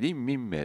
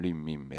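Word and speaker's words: 林明美: キャラクターの一人にリンミンメイて女の子はいるわけですよねまあ林明美さんって書いて多分リンミンメイと読むと思うんですけどまぁ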